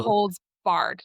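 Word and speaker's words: no holds barred: barge? It's like from wrestling. Oh, is it No barge holds or bar bard? barred. Like no Oh, holds barred.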